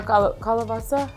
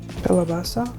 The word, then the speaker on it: kalabasa: bittermelon, eggplants, green beans, um, kabota squash or kalabasa. Kalabasa, right?